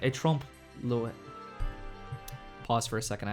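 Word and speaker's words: trompe-l'œil: to make a film that was like a trompe Lewis pause for a second I have to look up how to pronounce this he said he wanted to make a film that was like a trump LOI and from there we made the story of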